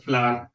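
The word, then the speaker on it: flour: जैसे फ्लावर is made from wheat, don't say फ्लोर, इट इज फ्लावर, ये भी इसका प्रोनाउंसिएशन भी फ्लावर ही है।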